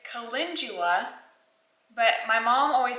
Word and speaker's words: calendula: was mispronouncing it it's calendula but my mom always said calendar so I called it a calendula uh flower petal but it's calendula wrong emphasis on the wrong syllable okay calendula calendula whatever